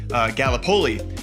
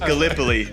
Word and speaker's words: Gallipoli: because being from Iowa, I said Gallipoli, and it is pronounced Gallipoli.